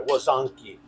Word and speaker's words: łazanki: w a z a h n k i łazanki. That's how you would pronounce it.